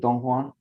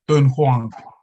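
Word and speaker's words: Dunhuang: I don't know, how do you say it, Dong Huang? Dun Huang.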